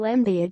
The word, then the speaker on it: Embiid: Los Angeles it rhymes with indeed or friend in need the NBA has enough under twenty five stars to fill up several red carpets maybe the lead can loan Joel embiid to the NFL or